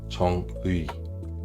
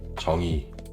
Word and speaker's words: 정의: Donc, je ne fais pas 정의. C'est 정의.